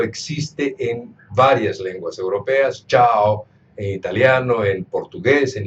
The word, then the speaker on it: cha: La primera, cha, tiene la A aguda, es decir, se tiene que pronunciar cha, cha.